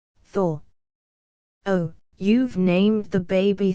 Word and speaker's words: Thor: She pronounced it Tor. Thor.